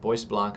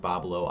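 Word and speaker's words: Bois Blanc: Boy Blanc Island is pronounced Bablo Island according to chat last night.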